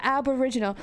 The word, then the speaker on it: Aboriginal: Is it like original but aboriginal? I think so. Am I pronouncing that correctly? Yeah, I know in Russian. Serious. I know. The Russian version I know, but yeah, Aboriginal.